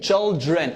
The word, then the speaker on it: children: Yeah, and remember the DR? We took before that the DR is like J. So I'm gonna say children. J, children.